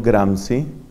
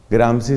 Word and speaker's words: Gramsci: A comienzos del siglo XX, un líder comunista italiano llamado Antonio Gramsci, Gramsci se escribe G-R-A-M-S-C-I, o Gramsci, tal vez pronunciarán, Antonio Gramsci se dio cuenta que la propuesta del marxismo se quedaba corta.